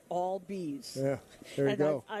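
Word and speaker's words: Albies: pronounce his game because everyone was going albz and he's always remember he got all be's yeah there you go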